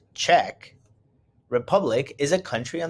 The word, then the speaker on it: Czech: to prague in the czech republic the czech pronounced czech republic is a country on the continent of